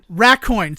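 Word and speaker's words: Raccoin: Have you heard of Rackcoin? Uh, no. Rackcoin. Racocoin. So, it's raccoon. Um, but if the second O was an I, that's how you spell it.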